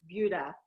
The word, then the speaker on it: Buda: way that he pronounced Buda it's not food I had to learn that it took me a bit I was like why would it because I even spelled the same whatever Marlene weirdy where